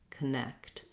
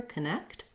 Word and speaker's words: connect: uh sound falsehood again unstressed first syllable has that reduced vowel so you can use the same strategy we did in ability of starting on the stressed syllable so try next connect you really just want to be light and short on that k sound if you have difficulty putting that c and t together connect connect um you can or